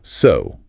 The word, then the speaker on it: sew: The least common pronunciation for ew is a long o sound like in no or grow. O. O. Like what. The main example is the verb so meaning to stitch clothes.